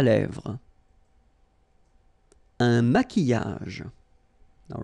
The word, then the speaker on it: maquillage: maquillage, okay, so here, same rule, Q, U, but then U is not pronounced, so qui, and then y, y, maquillage.